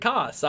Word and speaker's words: Koss: Toss It Koss. I'm sorry. Because that's his name, Kosick. Okay. And also it rhymes with toss as opposed to cows.